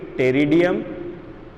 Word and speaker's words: Pteridium: लेकिन अगर लेकिन कुछ एग्जाम्पल्स हैं जिनके अंदर मिल रहा है, जैसे कि टेरिडियम, स्पेलिंग पी से स्टार्ट होगी, PTERIDIUM, उसी प्रकार से सिलेजिनेला, क्लियर है, ये हो गया सिलेजिनेला।